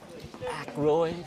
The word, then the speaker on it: Aykroyd: How the fuck do you pronounce this? Aykroyd.